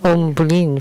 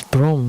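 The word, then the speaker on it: Bhrum: Actually, it's Brom. Brom. 真正的音是 Brom. That's the right pronunciation.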